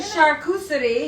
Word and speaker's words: charcuterie: Charcuterie, you plebs.